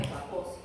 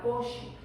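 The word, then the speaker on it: Kaposi: el doctor kosi y como es húngaro el nombre en realidad se debería pronunciar koshi no Capos pero no lo haa ustedes diciendo capoche en su práctica diaria pero así es como se pronuncia Okay Eh qué más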